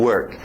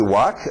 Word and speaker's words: work: E cuidado com esse, o R forte, senão parece walk, andar.